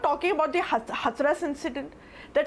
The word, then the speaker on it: Hathras: So it is Hathras, not Hathras. So learn to pronounce the cities of UP well.